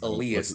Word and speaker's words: Elias: It's Elias, not How do you say his Elias.